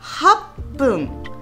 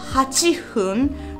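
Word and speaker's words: 八分: Et 8 minutes, on dit happun. C'est pas hachi hun. Parce que pour les japonais, c'est plus facile à prononcer happun plutôt que hachifun.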